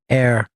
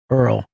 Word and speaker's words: heir: My Seagram's heir. Earlier, I pronounced it as Seagram's Earl.